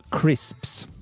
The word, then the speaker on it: crisps: First one was crisps. Now, the reason this person said they didn't like crisps is because of the pronunciation. It's my name Chris with a PS.